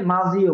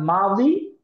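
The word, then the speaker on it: ماضي: সেটা হলো এক নাম্বার মা শব্দটা হলো মাদি অনেকে মাঝিও বলে মাঝি মূলত উর্দু উচ্চারণ আর মাজি এটা মূলত আরবি উচ্চারণে আসলে বাংলা এবং ইংরেজির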